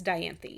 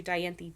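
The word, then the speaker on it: Dianthe: that's how it's pronounced. It's d i a n t h e. So, I assume it's Diantha.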